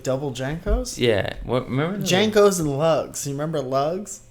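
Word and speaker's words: JNCO: Junko. Remember Junko? Janko. Yeah. Did I say it wrong? Yeah. Janko.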